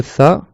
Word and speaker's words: ث: Il faut que le bout de la langue, il sorte de dessous les dents. Si ta langue, elle reste derrière la dent, tu ne pourras pas bien prononcer la lettre. Donc ça, c'est le tha, qui est une lettre qui n'est pas existante en français.